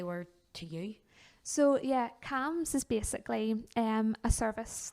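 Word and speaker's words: CAMHS: how supportive they were to you so yeah cams is basically um a service that is provided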